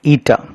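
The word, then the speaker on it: η: Efficiency is denoted by a Greek term pronounced as eta.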